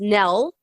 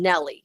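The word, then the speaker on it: Nelle: an interesting twist and it's pronounced nell rather than nelly so it does look like nelly yeah right um while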